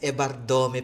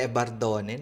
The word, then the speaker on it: Evardome: Yes, Ebardome pala guys. Oo hindi pala Ebardone namali tayo doon.